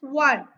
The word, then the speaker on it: one: a man word one though it's starting with letter o but it doesn't sound o like that like when we are saying orange or onion no it's one means it sound V and V is not Vel and that's why article